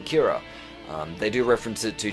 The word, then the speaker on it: Kira: And killer is pronounced Kira in Japanese.